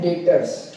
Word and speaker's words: debtors: ये डेटर्स जो शब्द है, यहाँ पर ये जो बी है ना, बी ये क्या है? साइलेंट है। बी क्या है? साइलेंट है। इसको डेटर्स नहीं पढ़ेंगे, क्या पढ़ेंगे? डेटर्स पढ़ेंगे। तो सर डेटर्स होता क्या है?